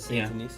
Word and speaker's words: Saint Denis: Saint Denis, yeah.